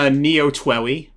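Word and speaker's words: Neo TWEWY: I've been playing Neo Twoey, which is how you say that game's name, right?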